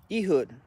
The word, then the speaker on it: Ehud: So it was just Ehud. That's how it would be pronounced.